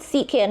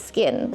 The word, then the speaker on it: CKIN: asking my friends like when you see c k i n how do you pronounce it it's SK or sein and there were quite a few who called it sekin but I'm here to tell you it's skin so we all ended